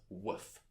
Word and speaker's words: wff: formulae which is often abbreviated to wff which i'm going to pronounce as woof finally a proof of